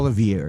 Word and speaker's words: Olivieri: Am I pronouncing it correctly? It's Olivieri.